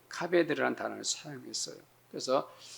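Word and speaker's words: כבד: 이제 이 히브리어는 알파벳을 거꾸로 읽어요. 그래서 여러분들 오른쪽에 있는 희한하게 생긴 문자가 카 발음이 나고 그 다음 문자가 비 발음이 나고 그 다음 문자가 느 발음이 나는 거예요. 모음이 없는데 이 단어 자체가 카베드라는 단어예요.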